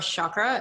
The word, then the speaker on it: chakra: It's a Sanskrit word, chakra or chakra, as Kate has pointed out to us before. It's pronounced both ways.